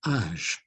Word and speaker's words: âge: a little hat on the A, and it's pronounced âge. Quel âge as-tu?